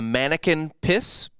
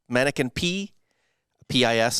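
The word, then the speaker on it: Manneken Pis: yes it's called the mannequin piss mannequin p pis i think it's french so you don't really pronounce cs on that uh and the people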